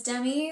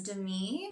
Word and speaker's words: Demi: chan d or lee the next name is demi like demi moore you can also pronounce it as demi and this is a